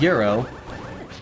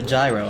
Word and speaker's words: gyro: it no not not Euro I'm talking like h-e-r-o you're talking about something entirely different people call that a gyro and that's wrong that is a euro pronounced like the currency foreign we